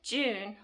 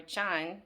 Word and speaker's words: Jun: cane sugar whereas with June or John depending on how you choose to pronounce it could be pronounced either way from the research that